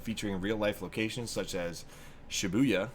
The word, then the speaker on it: Shibuya: Taking place in modern-day Tokyo and featuring real-life locations such as Shibuya, which I always pronounce like booyah, and I can't pronounce that word.